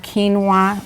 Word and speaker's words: quinoa: greek yogurt mixed with it or quinoa it's pronounced quinoa like quinoa okay now it can be a